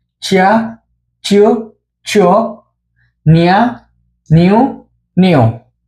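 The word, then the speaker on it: ちゃ: এবার হচ্ছে চি দিয়ে। চি এর ক্ষেত্রে হবে চা। এটা চিয়া হবে না, এটা হবে চা।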